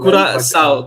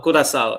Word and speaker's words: Curaçao: So hopefully Yeah, I won't Curaçao to however you pronounce the team to do Curaçao Curaçao, yeah.